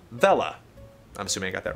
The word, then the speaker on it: Vella: Ve, as in Venice, and La, as in llama. Vella.